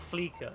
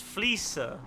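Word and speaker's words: Fleeca: It's not Fleeker. It's never been Fleeker. Please, never ever say that. It sounds dumb. It's Fleecer. Like, you know, I'm gonna fleece that person.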